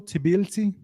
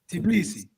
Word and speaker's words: Tbilisi: Tbilisi. Tbilisi.